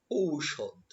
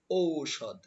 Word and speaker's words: ঔষধ: এর পরবর্তী শব্দ রয়েছে ঔষধ ঔষধ আমরা কিন্তু ঔষধ বলি কিন্তু না এটা হবে ঔষধ ঔষধ ঔষধ একটু ধাক্কা দিতে হবে এর পরবর্তী শব্দ রয়েছে